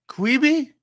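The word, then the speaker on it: Quibi: johannes that streaming service qibi is how you pronounce it uh it tried to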